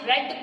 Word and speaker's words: read: read की third form read, R-E-A-D, READ, बट इसको third form में आपने रेड पढ़ना है, स्पेलिंग सेम रहेगी, जस्ट प्रोनाउंसिएशन चेंज होगी। We should have to pronounce it रेड।